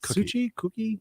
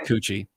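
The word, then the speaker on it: Cocchi: pronounced oh c-o-c-c-h-i yeah i believe it's pronounced cookie i think it's pronounced cookie okay it's delicious it's not coochie it looks like it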